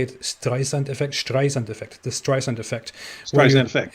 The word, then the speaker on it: Streisand effect: Streisand effect.